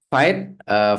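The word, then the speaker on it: Vite: Fight, French word for quick, ya, pronounce is a build tool that aim to provide a faster and learner development, bla bla bla bla.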